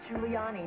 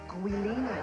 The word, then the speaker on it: Giuliani: I shouldn't have to tell an anchor woman that it's pronounced Giuliani, not Guinea.